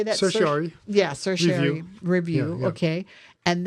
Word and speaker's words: certiorari: Certiorari.